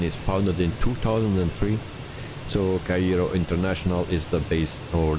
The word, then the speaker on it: Cairo: 31 000 feet guys 31 000 feet mad Cairo that's how you pronounce it Karina about the cabin crew is